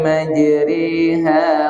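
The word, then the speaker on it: مجريها: Tapi yang satu nih tak bulak bacanya boleh a atau i, tapi harus i, harus mereng.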